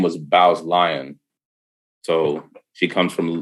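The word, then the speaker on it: Bowes: there's a whole village called bows or i think it's pronounced bose up in like northern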